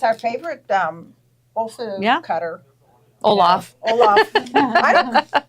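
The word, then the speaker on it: Olfa: favorite um Ola cutter Olaf Olaf I it's Ola I know I call it Olaf from the snow man was I saying it wrong and Steve did this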